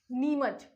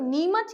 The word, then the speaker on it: नीमच: ठीक है, नीमच, चम्मच टाइप का कुछ प्रोनाउंसिएशन आ रहा है, तो ये हो गया नीमच।